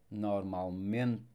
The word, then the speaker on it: normalmente: Again, don't forget that E at the end of words, it will sound quite mute. So normalmente. Thumbs up if you liked the video, and até a próxima.